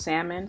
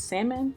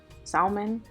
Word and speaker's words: salmon: salmon and it's pronounced salmon so for anybody that puts the l in it um i'm trying to figure out where you went wrong in your life because it's salmon not salmon all right okay thanks